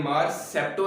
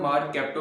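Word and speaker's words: mercapto: ये मार सेप्टो नहीं है, मार कैप्टो प्रोनाउंस करते हैं इसे।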